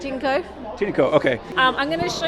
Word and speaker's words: Tineco: Today we're looking at something that I always pronounce Tineco, and I found out a little bit earlier that I was wrong about that, so it is pronounced Tineco, is that correct? Tineco. Tineco, okay.